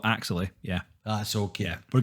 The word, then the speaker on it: Axelay: I take it you pronounce it Axelay. At least we're settled on that one. I think we're settled that I would also call it Axelay.